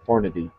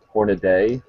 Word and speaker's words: Hornady: I think here's here's a question is it Hornady or hornet a I always only one a it's Hornady horn I'm pretty sure the company calls it